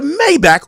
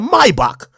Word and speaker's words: Maybach: because you got a Maybach or let me say it correctly a Maibock and you got a